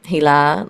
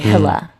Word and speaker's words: Hila: Well, it's interesting because my name, Hila, like is Hebrew. It means the light around the moon. My ancestry is in Palestine, and I grew up in New York City, so people would always mispronounce my name and they would say Hila, right?